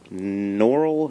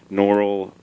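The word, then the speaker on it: Noryl: it because of the handle scales which are noral GTX which bench made calls it noral is spelled n o r y l GTX so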